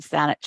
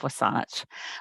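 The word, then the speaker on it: WSÁNEĆ: sanich Gulf islands and sanich is basically a mispronunciation of wasan which is the traditional name for the territories that I am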